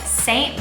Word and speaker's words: Seint: consultant slash makeup artist for a brand called saint beauty used to be called mascara beauty but